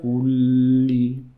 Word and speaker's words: كل: تبارك الذي بيده الملك وهو على كل make sure you're saying 2 lambs كل شيء قدير.